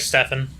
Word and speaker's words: Stefan: it's spelled all right Stefan same thing with yeah that's my name that's how it's spelled PH does not a v make people they're the wrong